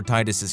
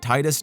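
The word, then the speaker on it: Tidus: important it is for titus's character and what he's all about and yes titus not titus titties whatever i don't care that that's how the game's creators say it's pronounced titus sounds much cooler okay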